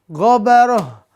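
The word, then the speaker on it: غبرة: Kita ganti semuanya dengan ha di ujung-ujungnya ya. Maka ini diganti dengan ha. Tun dengan ha. Gobaroh, gobarotun kita ganti dengan ha. Kalau diwakafkan. Qatarotun kita ganti dengan ha. Terakhir al-fajaratu kita ganti dengan ha. Ini pemirsa cara bacanya ya.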